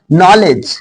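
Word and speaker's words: knowledge: नॉलेज, नौ यहाँ के silent है, नॉलेज मीन्स ज्ञान।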